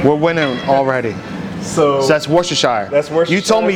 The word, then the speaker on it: Worcestershire: I say Shire, Worcestershire. Some people say Worcestershire.